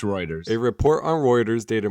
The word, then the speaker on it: Reuters: It's Reuters.